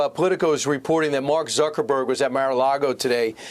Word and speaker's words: Zuckerberg: even Mark Zer Mark Zuckerberg that's how you pronounce his name Mark Zuckerberg he is now aligning with the 47th the